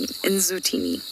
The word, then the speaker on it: Ndzutini: And her name is spelt Ndzutini, the one who likes the shade. It's a beautiful name, Nzutini.